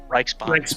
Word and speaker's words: Reichsbahn: Oh, God, I can't pronounce this. Deutsche Reich... The evil German railroad. Reichsbahn? DRB. Reichsbahn.